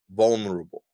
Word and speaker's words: vulnerable: I think I I I say instead of VO nerable I say vulnerable I I say v-u-n instead of v-u-l and so I go